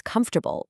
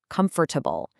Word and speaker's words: comfortable: The exact same thing happens with comfortable. It's comfortable, not comfortable.